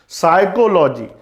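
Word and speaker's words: psychology: साइकोलॉजी, साइकोलॉजी की spelling क्या होती है? PSYCHOLOG। भाई साइकोलॉजी सुना होगा, मनोविज्ञान। बोलते से साइकोलॉजी है लेकिन स्टार्ट किससे होता है? P से, ये ध्यान रखना।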